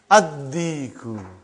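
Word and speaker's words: الديك: Ad-Diku. Why you did not pronounce Lam? Because it is sun letter.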